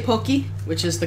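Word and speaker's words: Pocky: very hard for me I try to say pokey which is the correct pronunciation but I end up saying papi a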